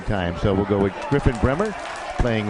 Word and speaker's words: Griffin Bremer: Jim Bransfield is pronouncing Griffin Bremer as Griffin Bremer, so we'll go with that because Jim has been doing this for a long, long time.